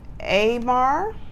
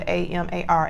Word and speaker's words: Amar: It's spelled A-M-A-R, Amar.